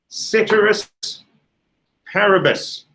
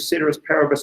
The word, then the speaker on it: ceteris paribus: we introduced whenever it was the other day ceteris paribus yeah that's how i pronounce it you can pronounce it however you